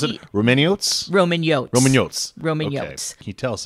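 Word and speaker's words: Romaniotes: meet the romanes is that right I said pronounce it Roman Roman yot Roman yotes Roman can you tell us about it well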